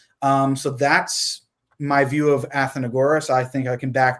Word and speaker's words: Athenagoras: I always forget how to pronounce the name. I think that's right. Athenagoras. Athenagoras, okay, yeah.